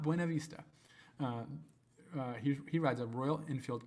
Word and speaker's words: Buena Vista: He's from Buena Vista, Virginia, not Buena Vista.